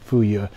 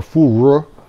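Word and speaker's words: 腐乳: me feel better, that I was pronouncing it in Cantonese, which is my grandmother's Cantonese, so she always said fu ye. In Beijing, I think it's more fu ru.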